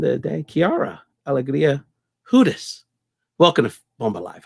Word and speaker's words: Hudes: European pronunciation, which is Hudes. Hudes. You got to like roll it.